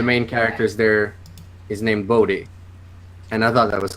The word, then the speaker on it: Bohdi: Yeah, it's actually Bodhi, but I don't care how people say Yeah, it.